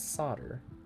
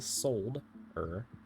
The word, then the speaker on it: solder: I was gonna call it solder because as an American, we don't pronounce the L. It is solder, but there is an L. It is a solder.